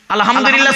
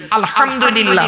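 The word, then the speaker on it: الحمد لله: ভালো করে শুনে নিন আলহামদুলিল্লাহ সূরা পড়েন না আলহামদুলিল্লাহি রাব্বিল আলামিন আলহামদু এই গলার ভেতর থেকে হেটা উচ্চারণ করবেন বাপেরা হাতে ধরে বলে যাচ্ছি আলহামদুলিল্লাহ মানে হচ্ছে সমস্ত প্রশংসা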